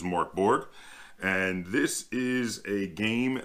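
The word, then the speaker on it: Mörk Borg: you in the book so I'm gonna go with how we would pronounce it in English which is Mark Borg and this is a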